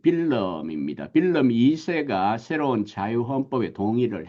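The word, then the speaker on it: Willem: 특히 1848년 유럽의 중요한 해지만 네덜란드에도 이 왕 빌름, 영어는 이제 윌리엄이죠. 프랑스어는 귀욤이란 발음을 쓰게 되고요. 또 독일어는 빌헬름 이렇게 되지만 화란어는 빌름입니다.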